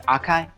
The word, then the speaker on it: Akai: I say it's Akai. Yeah. Yep. That's me. Yeah, I recognize you. Or the other pronunciation is trash.